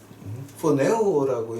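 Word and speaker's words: φονεύω: 자, 근데 그 헬라어로 번역한 거가 이제 이 살인을 어떻게 말하면 포네오라고 이제 발음을 해요.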